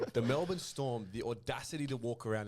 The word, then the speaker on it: Melbourne Storm: As I love to hear some people call them the Melbourne Storms. Storms. I'm all for them pronouncing the team name wrong.